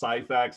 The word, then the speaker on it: Scifax: new testament church and my name is pronounced scifix i know it's a